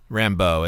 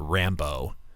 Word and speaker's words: Rambeau: I assume it's Rambeau. Rambeau is how I would, but I would put an emphasis, syllabic emphasis on Rambeau, so it's not Rambo.